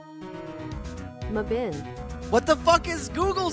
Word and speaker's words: Mebane: Just tell me how it's pronounced. Stop it. Mebane. Mebun? Mabin.